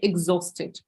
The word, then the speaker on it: exhausted: latest please be careful exhausted H is silent yeah so we say exhausted right okay and look